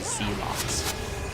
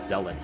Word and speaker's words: zealots: And then later it's like, oh, it's zealots and elites, not E-lights.